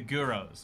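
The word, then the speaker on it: gyros: maybe it's just me guyros is pronounced like heroes oh the the guros okay he'll buy his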